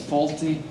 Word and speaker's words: Fawlty: one, because my stage name is Fawlty, and it rhymes with faults.